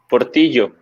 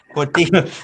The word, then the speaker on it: Portillo: It's Portillo. So like a tortillo, but with a P in the front? I'm just kidding. Portillo.